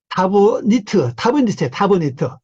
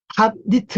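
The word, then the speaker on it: תבנית: 타부빔, 타빔, 이렇게 타브니트, 탑니트, 이래 돼요. 탑니트, 타브니트, 탑니트, 탑니트 발음해도 되고, 타브니트, 이렇게 돼요.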